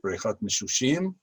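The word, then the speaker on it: בריכת המשושים: And this pool, which is very popular, is known in Hebrew as Brechat Misshushim. This is how you pronounce it, Brechat Misshushim.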